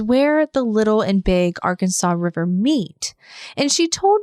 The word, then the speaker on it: Arkansas: the Little and Big Arkansas River meet. and she told me that the river is actually pronounced as Ar Kansas when it's in Kansas, but when it's not